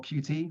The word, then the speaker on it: Qt: and the big one is uh cute or QT whatever your preference in how you say it uh I'll go for the official cute pronunciation uh and uh so